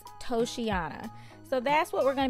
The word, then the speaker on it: Toceana: over at toyotres now i did have to go look up several videos to figure out the correct pronunciation of the name of this hair and i think the general consensus is toshiana so that's what we're